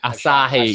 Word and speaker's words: Asahi: right peroni branta aashiqui us he can you pronounce that one the name try assa he actually as a he Asahi there you go um which is that which